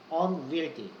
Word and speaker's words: unwieldy: 발음은 unwield야. 다루기 힘든이란 뜻이야. 너무 크고 다루기 힘들면 아이들이 안 하잖아. unwieldy.